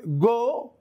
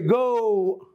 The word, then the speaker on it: go: This is not true. It is pronounced as O, O. So don't say go, say go. Don't say home, say home. Don't say no, say no. In your pronunciation, you make two movements by your tongue.